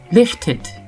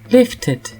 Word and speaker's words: lifted: Le ED se prononce id si le verbe se termine par un D ou un T. Il s'agit alors d'un I